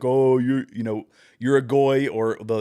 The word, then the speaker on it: goy: Anytime I say something that is pro-Israel, it's like, "Oh, you're a goy," or though they usually say it wrong, they say goyim.